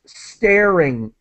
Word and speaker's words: staring: And so just staring, air, that's the sound, staring in a mirror.